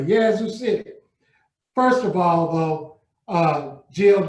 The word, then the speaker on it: Yazoo City: You pronounced my hometown correctly, Yazoo City.